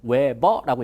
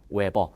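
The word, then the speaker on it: Weber: 읽을 때는 외버라고 있습니다. 자, 뭐라고 읽는다고요? 외버.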